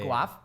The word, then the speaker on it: Guelph: I grew up in a small city called Guelph. Wait, that sounds made up. Yeah. Guelph? It's like Guelph. Yeah. Guelph?